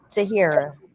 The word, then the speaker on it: Tahirah: Tahira.